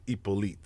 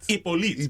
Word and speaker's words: Hyppolite: But see, in French and being Haitian, it's Hyppolite. Hyppolite.